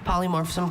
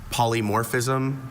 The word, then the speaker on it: polymorphism: Uh, a slight variant. Polymorphism. Also polymorphism.